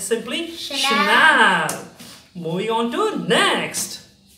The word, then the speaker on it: Chanel: do you know so many a times people mispronounced as channel channel no it's simply shayana move on to next how we pronounce it